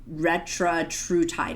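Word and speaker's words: retatrutide: It's I mispronounced this one again, Retratrutide.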